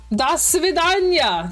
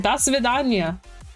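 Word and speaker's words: до свидания: Das Svidanya! That is exactly how you say it. Das Svidanya.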